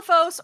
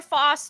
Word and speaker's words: Foss: Hi, I'm Fos or Foss, depending on how you want to pronounce it. I don't care.